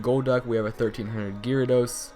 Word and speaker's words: Gyarados: we have a 1300 Gyarados or Gyarados you guys always get mad at me for how I pronounce it but I say Gyarados so I'm just going to call it that but we do have